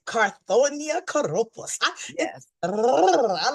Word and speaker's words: Carthornia: Oh, Kouroupos, please give us the proper pronunciation of your name, Sister. Carthornia, Kouroupos. Carthornia Kouroupos. Yes, Oh, I like Carthornia Kouroupos.